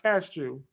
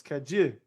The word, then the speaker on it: cajou: I'm like, no, it's not cashew. It's cajou.